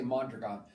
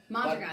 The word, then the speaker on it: Mondragon: So it's a Spanish name, and it's Mondragon with an accent on the last O, but very few people can say it, so we can say Mondragon. Mondragon.